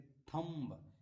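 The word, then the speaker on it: thumb: अगर एम के बाद एम के बाद बी आए तो बी साइलेंट होता है। जैसे देखिए थंब एम के बाद क्या आया है?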